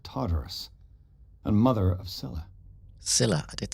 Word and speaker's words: Scylla: Scylla, I did say it right.